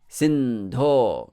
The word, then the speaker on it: Sindho: In Sanskrit, always long vowels will take the emphasis. They will be emphasized. They are long. Sindho. Karuna Sindho. Sindho. Hang on those syllables. They are also heavy.